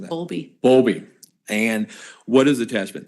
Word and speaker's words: Bowlby: I'm mispronouncing that. Bowlby.